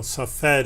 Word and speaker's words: Safed: viewers they don't know safed is how you say it in in English yes we we're stationed